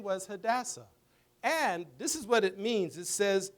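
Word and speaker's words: Hadassah: all right what is that name can you pronounce that had a what hadasa hadasa we call her hadasa so her Hebrew name was hadassa and this is what it means it says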